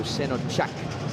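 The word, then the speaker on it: Şenocak: Is a name of Turkish descent, and the C in Turkish is pronounced like CH, so Senocak.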